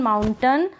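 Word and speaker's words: mountain: अ बोल रहे हैं ए आई के लिए। फिर विलन में भी ऐसा है। विलन कर्टन सर्टन, माउंटेन और फाउंटेन में।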